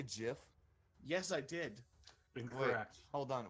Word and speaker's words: GIF: at did you say jiff yes I did hold on will you will you repeat that actually it's uh it's technically it's a gift because it's a hard G graphics right yes I think